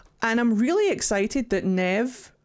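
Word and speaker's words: Neve: but no it's fine her name is pronounced Nev Nev squared there is an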